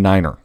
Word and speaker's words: niner: 9 3 5 & 9 pronounced phonetically is tree-like the thing with leaves on it 5f IFE and Niner everybody knows Niner now it does not